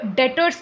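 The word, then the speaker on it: debtors: देंगे ठीक है और जो देता है उसे डेट डेटर्स कहते हैं बी इज साइलेंट अब लायबिलिटी दो प्रकार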